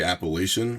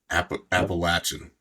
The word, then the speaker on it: Appalachian: Do you guys say Appalachian or Appalachin? I don't want to get hit. Sometimes I get slapped if I say it wrong. I grew up saying Appalachian up north, but down here it's definitely Appalachin. Appalachin. The strong ch.